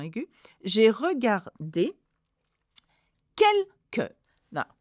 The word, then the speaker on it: quelques: J'ai regardé quelques. Now, QU in French is not que, it's que, okay?